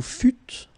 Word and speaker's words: fûtes: Vous fûtes. Same thing.